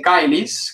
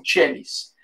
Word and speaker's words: caelis: uitspraak zie je dat de C voor een I, een E of een Y klinkt als een Tj. Dus Paternoster qui es in caelis, klassieke uitspraak, of Paternoster qui es in caelis.